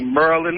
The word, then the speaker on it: Maryland: you've been here but most of the people in this area don't see maryland they say merlin like with the you i don't know if